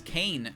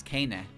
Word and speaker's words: Keine: Fans of the English fan base would often mispronounce Kane's name as Kane, probably it does because it doesn't look Japanese-like. The correct pronunciation is Keine.